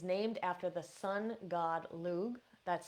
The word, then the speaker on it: Lugh: And the holiday itself, Lughnasadh, is named after the sun god Lugh. That's spelled Lugh.